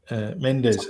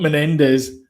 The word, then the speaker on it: Mendes: um so you know Sam Sam Menendez Mendes mes not not Menendez Menendez I didn't watch him